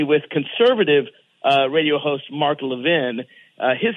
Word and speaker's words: Levine: And I was like, oh, that's delegate Mark Levine. I'm going to go talk to him. He's a fellow conservative. Yeah. Right? He's Mark Levin. He pronounces it Levin, and I pronounce it Levine.